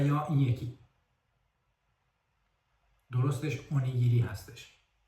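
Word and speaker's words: おにぎり: بذارید امتحان کنیم این کلمه رو شما چطوری تلفظ می‌کنید درستش تاکایاکی هستش و یا این یکی درستش اونی‌گیری هستش و همین طور این یکی کلمه درستش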